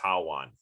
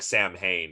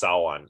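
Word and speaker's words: Samhain: This word is pronounced Sawan. It looks like Sam Hain. It's pronounced Sawan, and it is the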